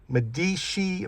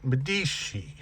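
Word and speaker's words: Medici: And by the way, Cadillac called this Medishi velour, I believe is how you pronounce it. M D I C I. Almost have to say it with an accent. Medishi.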